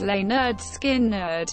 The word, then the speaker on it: Lynyrd Skynyrd: Released on August 13, 1973, the self-titled album with the subtitle "Pronounced Leh-nerd Skin-nerd" sold over one million copies, and was awarded a gold disc by the RIAA.